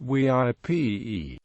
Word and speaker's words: Weippe: Park which interprets the site the name VI pronounced WIP is derived from an npers name whose meaning